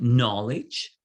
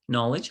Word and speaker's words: knowledge: do not pronounce when it's with the N, like knowledge. It's K-N, knowledge, how you spell it, but the K again is silent.